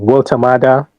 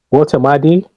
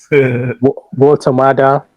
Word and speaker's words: Woltemade: Um Walter Mada. Walter Madi. Well the first pronunciation was correct. Walter Mada plays for Newcastle.